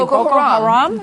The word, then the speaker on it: Boko Haram: And this is by that terrorist group that's name I never am able to pronounce correctly. Boko Haram.